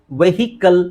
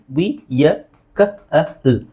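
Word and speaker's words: vehicle: ನೌ ಇದನ್ನ ಬಹಳ ಜನ ನಾವು ವೆಹಿಕಲ್ ಅಂತ ಹೇಳ್ತೀವಿ ವೆಹಿಕಲ್ ಆಕ್ಚುಲಿ ಅದರ ಸರಿಯಾದ ಉಚ್ಚಾರಣೆ ನೋಡಿ ವಿಯ ಕಲ್ ವೆಹಿಕಲ್ ಇದು ನೀವು ಐಪಿಎ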